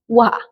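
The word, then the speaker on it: は: Tapi dalam konteks sebagai fungsi partikel, dia berubah menjadi wa. Watashi wa rere des. Nah, ini wa-nya partikel. Tapi kalau dia sebagai kosakata, dia jadi ha. Haha.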